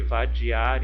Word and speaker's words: vadiar: E nesse grupinho aqui, vadiar e cesar, por que não estão formando rimas? Vamos analisar novamente, ó. Vadiar, vadiar. Olha, aqui eu tenho uma oxítona.